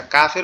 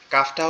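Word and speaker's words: كاف: আচ্ছা, কাফের উচ্চারণটা বলে দেই। কাফটা হচ্ছে জিহ্বার আগা উপরের তালুর সঙ্গে লাগবে, জিহ্বার আগা উপরের তালুর সঙ্গে লাগবে, লেগে নর্মাল ভাবে উচ্চারণ হবে, একটু বাতাস বের হবে, কাফ কাফ কাফ।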